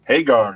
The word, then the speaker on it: Hagar: you say sami's last name uh Casey haar Hagar that's right very nice produced by Edgar witer